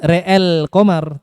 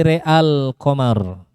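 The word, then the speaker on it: رأى القمر: Bukan re'el qamar, tapi re'al qamar.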